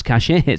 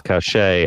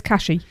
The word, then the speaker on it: Cachet: I did hear somebody call Place Cachet Place Catchy. Place Catchy.